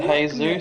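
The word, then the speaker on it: Jesús: and the Indies on it technically be pronounced hay-soos since the deal was Spanish here sure now these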